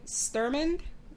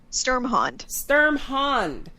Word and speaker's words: Sturmhond: Sturmond? No, how do you say his name? Sturmhond.